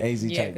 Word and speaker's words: AZ Chike: AZ Chike.